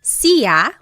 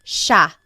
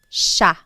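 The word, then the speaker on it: siya: It looks like it should be pronounced sa, but it's actually pronounced sha sha.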